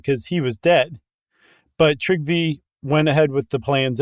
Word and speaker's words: Trygve: He had a grandson, and I have no idea how to pronounce this. Trygve. I'm not big on my Norwegian. It's really Trygve.